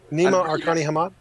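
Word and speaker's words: Nima Arkani-Hamed: It's Nima Arkani Hamad. Arkani Hamad. I'm really bad at pronunciation.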